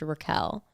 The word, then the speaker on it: Raquel: I heard she was always called Rachel, and then for the show, decided that her name would now be pronounced Raquel.